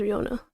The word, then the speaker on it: Riona: I'm pronouncing it right. Oh, okay. So, is Rihanna.